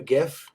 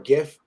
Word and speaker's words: GIF: I send you a gif or a gif GIF however you pronounce it I pronounce it like as in gift without the T so I just say